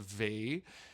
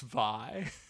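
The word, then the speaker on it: Vie: Americans saying it's pronounced Vi. But I'm sorry to tell you, but given the amount of French she leans on this album, I'm 99.9% sure it's V.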